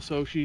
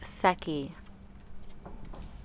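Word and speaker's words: Secchi: this is my official Sochi disk Oh Publius it's pronounced sucky you might have five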